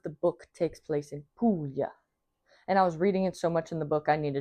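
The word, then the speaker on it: Puglia: You pronounce it Pulya.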